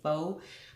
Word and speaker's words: pho: I always want to say pho because P-H-O, I'm just thinking pho, but I guess it's pronounced pho.